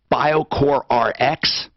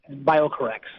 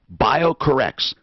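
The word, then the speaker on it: BioCorRx: he is with bio core is is the pronunciation bio core rx bio correct Oh bio corrects now I want to tell people the website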